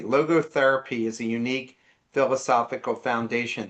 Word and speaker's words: logotherapy: Um, Logo, I hope I had pronounced this correctly. Logotherapy is a unique philosophical foundation in this book.